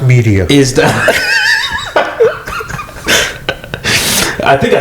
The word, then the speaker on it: Medea: what I said last time, but it's Which Medea? so. Should I just leave? I can get the fuck out of here. I can also. No, It's pronounced media.